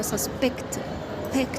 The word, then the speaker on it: suspect: هي نفس الكلمة، بس احنا هنشيل الاسترس من المقطع الأولاني وهنحطها على المقطع التاني، وفي الحالة دي تتحول لفيرب. تمام، وهتتنطق كده suspect. هنعمل ستريس على البيكت دي، suspect.